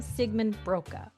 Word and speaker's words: Siegemund-Broka: And on this author spotlight I am welcoming author duo Emily Wibberly and Austin Sigman Broka. Did I pronounce this correctly?